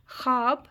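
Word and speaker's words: خواب: वो वाव जो लिखने में तो आता है लेकिन पढ़ने में नहीं आता, जैसे दस्तरखान, ख्वाब, दरख्वास्त।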